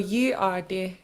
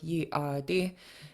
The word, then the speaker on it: yeey.aadí: The period in the middle is to tell you how to pronounce it. So it's called a glottal stop. A period notes where you stop the air while you're speaking.